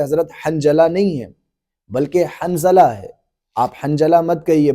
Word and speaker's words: حنظلہ: نام لے رہے ہیں حنجلہ، یہ حنجلہ نہیں ہے بلکہ اس کا اصل تلفظ جو ہے وہ حنظلہ ہے، ذا کے ساتھ ہے۔ بس علماء اکرام نے